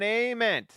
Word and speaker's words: Amen: Okay, can I get an Amen? That's how you say it.